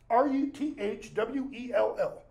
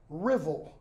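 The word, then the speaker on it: Ruthwell: it should be pronounced r-u-t-h-w-e-l-l Ruth well would make sense right it's not it's pronounced Revel like drivel without the D okay I don't remember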